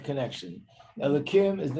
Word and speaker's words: Elokim: We only say Elokim, but it actually spelled with a hey.